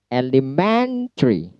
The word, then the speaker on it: elementary: Selanjutnya elementary. Elementary. Men-nya yang di stress.